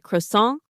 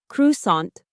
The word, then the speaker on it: croissant: The word croissant comes from French. So the pronunciation is a little different.